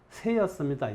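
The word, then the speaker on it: 濊: 두 가지로 표기를 했는데이 한자들의 원래 발음은 세였습니다 예가 아니고 그것은 동쪽을 가리키는 새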